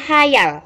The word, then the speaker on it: khayal: di jadinya sekolah kemudian kata hayal bukan ditulis dengan menggunakan huruf H saja sehingga membacanya khayal tapi menggunakan huruf k sehingga membacanya hayal begitu yang anak-anak kata